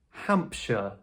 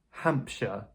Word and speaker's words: Hampshire: In American English, they tend to pronounce this word as "shire" very strongly. However, in British English, if you want to pronounce it like a... in a more natural way as we do here, we would say "shire", as part of the word. For example, Hampshire, Hampshire. So British people wouldn't say Hampshire. That's a bit American. We say Hampshire or Hertfordshire.